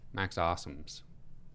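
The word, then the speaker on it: Abmas: have mispronounced his name because apparently it's Awesomes or something. But Max Awesomes. There's a B in there. Apparently you just don't pronounce it.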